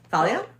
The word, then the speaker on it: Thalia: Well, you're pronouncing it too well. Shoot. Okay, I got this. Thalia.